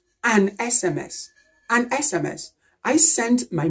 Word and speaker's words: SMS: But in this abbreviation, we pronounce it S, S, and it starts with the vowel sound E, E. E is a vowel sound.